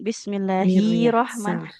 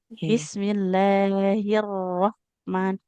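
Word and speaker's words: بسم الله الرحمن: Jangan bismillahirrahman nanti h-nya jadi panjang ya. Bismillahirrahman jadi langsung masuk ke r bertasdidnya biar huruf ha-nya enggak panjang.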